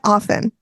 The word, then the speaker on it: often: says it he said often yeah that's how you say it no it's not often yes it is the tea is silent how do you say the opposite of Harden soften I thought it was